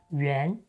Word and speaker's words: 元: Do you remember how the sound brick (元) in 玩is pronounced? Yes, it’s ’yuán’.